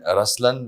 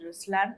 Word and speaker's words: Ruslaan: okay so even in raslan when you say raslan also means the lion it's the attitude of am but the right pronunciation is Ruslan okay there is so